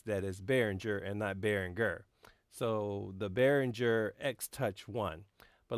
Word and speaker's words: Behringer: behringer x1 but let me explain why I say berenguer because a couple years ago several years ago I went to the NAMM show and I asked one of the reps at bearing err how to say the name and he said well is German is berenguer so that's why I have been saying Berenguer but I know that